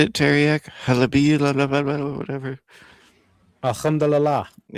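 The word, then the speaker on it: الحمد لله: Alhamdulillah. Yeah. Alhamdulillah.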